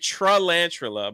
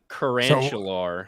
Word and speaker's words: tarantula: like saying say tarantula see I'm saying it correctly everyone I was saying it trilantula but it was like that was obviously incorrect it looks like tarantula I I think we